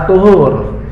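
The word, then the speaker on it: الطُّهور: Jadi miftahnya salat itu adalah at-tuhur, bersuci. Bukan tahur ya, at-tuhur bacanya. Kalau tahur itu nanti lain.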